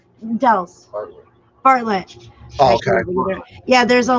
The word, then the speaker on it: Bartlett: Barnett? Dels. Bartlett.